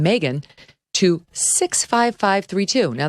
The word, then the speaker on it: Megyn: can text my name megan to 65532 now that's spelled m-e-g-y my mom said it was like ob-gyn m-e-g-y-n text m-e-g-y-n to